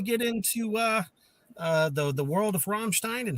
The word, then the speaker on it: Rammstein: I appreciate you saying Rammstein too, and not Ramstein, like a lot of people do sometimes.